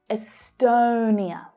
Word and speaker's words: Estonia: So that stressed syllable there is the second one, the O vowel sound, as in go. Estonia, Estonia, Estonia.